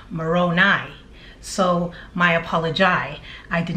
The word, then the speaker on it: Moroni: in my last video I kept saying Moroni like baloney when in fact it's pronounced Moroni so my apology I